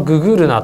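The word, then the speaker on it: GGRNA: これあのググルナと読みます。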